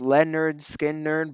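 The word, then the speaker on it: Lynyrd Skynyrd: yeah great pick yeah number nine I have pronounced Leonard skin nerd by Leonard Skinner 1973 really consistent album great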